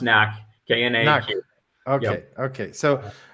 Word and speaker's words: KnaQ: It's pronounced KnaQ, KNAQ.